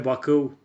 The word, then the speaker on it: Bacău: hometown's former football team, FCM Bacău, or FCM Bacău as it is pronounced in Romanian.